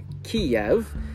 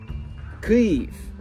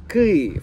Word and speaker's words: Київ: Z początku inwazji rosyjskiej wielu Amerykan przestało wymawiać nazwę stolicy Ukrainy jak Kijew, a preferuje mówić Kijów, bo to jest uważane za poprawną ukraińską wymowę.